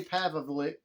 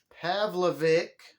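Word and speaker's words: Pavlovich: a heavyweight fight between derrick lewis and sergey pavlik have a pavlovic i said it right the third time and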